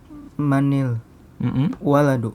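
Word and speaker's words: من الولد: Nah, kalau dibaca sambung menjadi Manil waladu. iya, manil waladu. Lihat, sukun ketemu sukun. Sukun yang pertama huruf apa? Nun. Nah, karena dia bukan apa namanya huruf mim, maka dibacanya kasroh, bukan manul ya.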